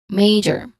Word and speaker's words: major: Major. Major has may is the stress syllable, which has a clear diphthong a sound.